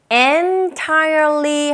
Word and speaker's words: entirely: entirely 하셔도 되는데 보통 원어민들이 문장 속에서 발음할 때 n에 가깝기라기보다는 in에 가깝게 그런 식으로 발음하게 되거든요. entirely, L 사운드, R 사운드가 모두 들어있기 때문에 쉽지만은 않은 발음입니다.